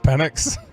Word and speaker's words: Penix: Is that because people don't know it's pronounced Penix?